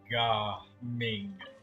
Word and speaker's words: Gaming: Yeah, it's pronounced Ga Ming. There's still mass confusion around it.